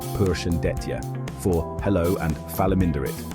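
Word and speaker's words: Përshëndetje: That's pronounced Persian deta for hello and phalaminderit.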